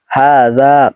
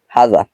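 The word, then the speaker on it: هذا: যেমন বলে থাকি এখানে হাজা উচ্চারণ কিন্তু এরকম না হাজা না হাজা এরকম হবে অর্থাৎ হার উপর একটা টান আছে যাতেও একটা টান আছে এটা লোগাতে দেখে নিবেন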